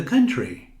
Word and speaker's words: country: E você diz, they go to the country. Aqui não pronunciamos a letra O, temos can, country. O mesmo som daqui, sun, can, Sundays.